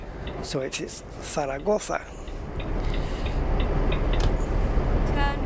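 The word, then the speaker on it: Zaragoza: right on the thoa you have to remember that the Zed is pronounced like a th so it is saraga turn right still got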